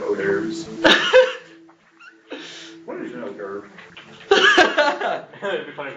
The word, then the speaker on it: hors d'oeuvre: What is an hors d'oeuvre? It'd be funny if it's beef jerky. Actually, it's an hors d'oeuvre. But it I looks know like it's spelled weird. it's spelled horsey dwarves.